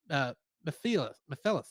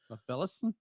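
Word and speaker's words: Mephilas: And in the English dub of Shin Ultraman, he played alien Mephilus. However you say his name. Mephilus? Yeah, basically like Mephistopheles.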